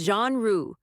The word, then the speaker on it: genre: French vibes, fancy pronunciation, not my genre of music. It's genre.